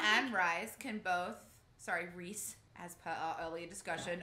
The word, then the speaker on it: Rhys: Sorry, Rhys, as per our earlier discussion on pronunciation.